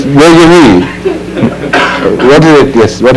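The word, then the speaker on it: déjà vu: Because you shape your lips in the form of pronouncing U, but pronounce E instead.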